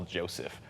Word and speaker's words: Jozef: And then, Although I always pronounce it as just normal Joseph, but I will have my dad will say it phonetically.